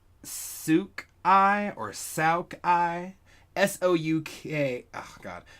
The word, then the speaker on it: souk: Oh, yeah, it's pronounced souk.